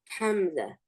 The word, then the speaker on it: Hamza: Hamza. That's right. And I'm going to show you how to pronounce this Hamza.